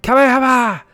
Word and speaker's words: Kamehameha: The way potato pronounced Kamehameha. Kamehameha!